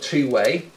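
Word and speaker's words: 2wai: Now, the company is called Two-Way, which is quite clever. Um, but it's spelled 2 W AI.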